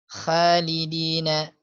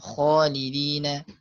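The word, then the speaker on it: خالدين: Ya jelas tadi kha banyak yang bacanya kha apa namanya misalnya khalidina harusnya khalidina.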